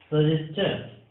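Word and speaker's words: suggestion: होता, कंबस्चन होता है, सजेस्चन, डाइजेस्चन, ठीक है। डाइजेशन कुछ लोग बोलते हैं, सजेशन बोलते हैं, बट ये सजेस्चन होगा, डाइजेस्चन होगा, कंबस्चन, क्वेश्चन, क्लियर है स्टूडेंट।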